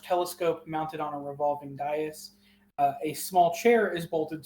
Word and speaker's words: dais: It's dais.